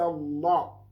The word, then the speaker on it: Allah: Then the last one is alaysa Allah. Alaysa Allah.